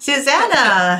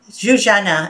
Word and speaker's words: Zuzana: Zuzana, actually, right? That's yeah. how you say it, because we know because our IT man from years ago, his wife's name is Zuzana. So oh. I learned a little bit how to say it.